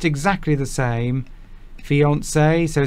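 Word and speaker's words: fiancé: engaged to becomes your fiance. Oh. So that's the man becomes the fiance. There's a little accent over there because it's a French word. Fiance. Fiance. Fiance.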